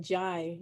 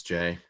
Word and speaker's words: Jay: I kept pronouncing it Jai in my head. Yeah, he corrected me earlier. It's Jay.